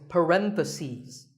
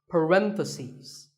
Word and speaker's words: parentheses: you're talking about both the plural is parentheses the last syllable becomes C's parentheses word number 47 is